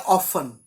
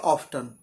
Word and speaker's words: often: एक वर्ड होता है ऑफन, और अमेरिकन लोग इसे बोलते हैं ऑफ्टन, स्पेलिंग होती है OFTEN, जिसका मीनिंग होता है अक्सर।